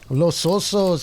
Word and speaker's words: Los Osos: Is that how you pronounce that? Los Osos? That Los sounds Osos. Los Osos, yeah, and Los Osos, California, by Jacoby Kingston, Eric Lindmark, and Joey Helslet.